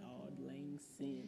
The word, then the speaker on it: Auld Lang Syne: How do you pronounce it? It's like Auld Lang Syne.